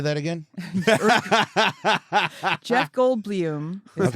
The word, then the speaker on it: Goldblum: Jeff Goldblum is how that's actually how his family says It's it.